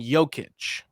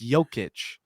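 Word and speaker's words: Jokić: Shay and Joic. I said Joic. You said Jokic. Yoke. Yoke. Like egg yolk. Yic. I thought it was Jokic because he's the joker. No, it's Jokic. It's how you pronounce it.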